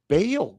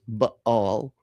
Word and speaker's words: Baal: not saying they're all bail worshipers." First of all, the the correct pronunciation is baal.